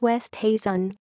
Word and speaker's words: Oosthuizen: people's tongues his Thuan whose surname no one can seem to pronounce correctly it's West Hazen put Andrew day to